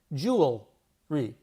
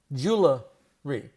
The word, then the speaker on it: jewelry: Jewelry. Jewelry. Jewelry. But we hear a lot of us jewelery jewelry. I know I heard that growing up because a lot of people around me said it wrong.